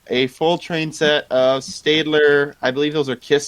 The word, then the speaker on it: Stadler: It's pronounced Stadler, not Stadler.